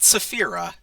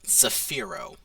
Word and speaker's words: Zafiro: Zafiro. Not Saphira, Zafiro.